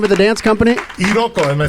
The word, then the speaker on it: Iroko: Iroko, am I saying that right? Iroko Dance Company. Iroko. Now, can you spell it out for us?